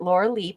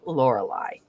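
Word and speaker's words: Lorelei: origin i believe um and some of you may want to pronounce it laura lee but we're going to say lorelai okay the lore lie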